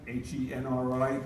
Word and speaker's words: Henri: The first one is Henri, H-E-N-R-I, like Henry. He's a Frenchman, so I pronounced it the French way.